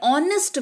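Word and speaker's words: honest: हो रहा है पर ऑनेस्ट में एच का उच्चारण नहीं हो रहा है तो अपवाद एजिस्ट करते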